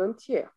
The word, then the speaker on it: entier: propagé dans le monde entier. alors, dans le monde entier, on prononce toujours pas le R.